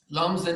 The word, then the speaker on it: Lumsden: it the rocky road the lumsden lumsen is a town about i'm going to say five hours out of st john's i only used lumsen because it kind of rhymes with dublin so here we go